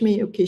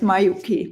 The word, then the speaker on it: Miyuki: call it Miyuki and some people call it Mayuki. Yeah. How do you call them? Mayuki. But if you pronounce both, I mean, it's okay. Miyuki or Mayuki. Okay. I asked in Japan and they said it can work both.